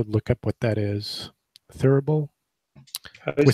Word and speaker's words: thurible: Thurible. How do you spell it? With something engraved on it. Thurible. Thurible. It sounds kind of like thimble, but it's different.